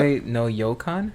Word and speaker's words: Koi no Yokan: How do you pronounce so it's it? either them. Koi no what? Koi no Yokan.